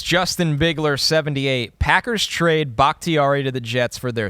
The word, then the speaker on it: Bakhtiari: So Bakhtiari, I just feel like, first off, you know, yes, you said it right.